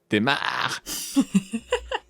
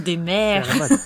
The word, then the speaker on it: Desmares: Kinsey et Christian Demare. Ah, encore un qui finit par marre. Ouais, Ça se prononce des mers. Non, c'est faux. Demare.